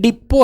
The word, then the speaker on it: depot: एक स्पेलिंग है DEPOT, क्या होता है इसका मतलब? डिप, ये डिप्पो है, बस डिप्पो है ये, बस डिप्पो। और अपन सोचते हैं कि बस डिप्पो DPO ही होगी, नहीं, ये DPOT, याद